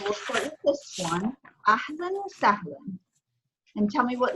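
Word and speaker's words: أهلا وسهلا: There's actually tanween feta on both of these aleph, okay? So you have tanween feta on the first aleph here, ahlan wa sahlan, okay? So you're going to have tanween feta, which makes that new sound, okay?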